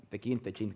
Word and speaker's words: Techint: Por un lado, Techint, como quieran pronunciarlo, él le dice Tequint, le decimos Tequint.